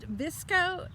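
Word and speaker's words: VSCO: This it's pronounced Visco, but it's spelled V-S-C-O, and it has to do with some kind of a filter.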